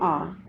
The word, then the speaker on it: hour: But here in these words H is silent and the word is beginning with the vowel sound R.